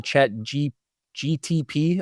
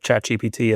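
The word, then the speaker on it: ChatGPT: Other people are just like what is the chat GTP? I've heard that one a lot. GTP and I'm like, you don't even say it right.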